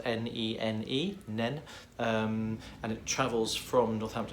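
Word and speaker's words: Nene: It does tell the story of the River Nen, which is spelled N-E-N-E, Nen, and it travels from Northamptonshire, a place called Badby, where it surfaces in Northamptonshire.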